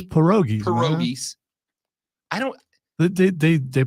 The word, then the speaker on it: pierogies: It's pierogies. Pierogies. I don't. They pronounce it in Men in Black 1.